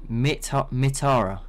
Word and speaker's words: Mithara: Mitara, but spelt Mithara.